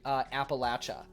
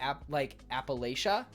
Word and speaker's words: Appalachia: Because a lot of people say Appalachia, not Appalachia. But it's Appalachia. So, just want to throw that one out there. So if you're saying Appalachian, you're wrong. Because that's how you say it.